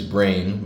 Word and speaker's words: Breign: His stage name is Breign, by the way, Colin, my best friend. His stage name is Breign, but it's spelled Breign. So it's like rain, like like terrain or like rule or something.